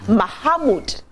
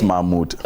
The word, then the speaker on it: Mahmoud: Good morning, Prince Muhammad. That's the name, right? Is that how to pronounce it? Yeah, maybe just a little stress you added. Prince Mahmoud. Mahmoud. So yes. the ha is not pronounced.